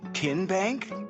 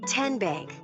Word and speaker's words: TN Bank: in a moment how do you say the name TN Bank nope tin bank uh-uh so what is it 10 Bank 10 as in Tennessee right here where all